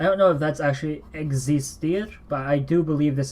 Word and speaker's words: existir: So X is that funny character that is actually like the KS sound combined.